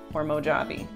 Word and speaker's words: Mojave: okay okay so I'm gonna take mo job Mojave come on I'm having Miami I need to Google how to pronounce Mojave hormone avi good job that's it okay anyways so I'm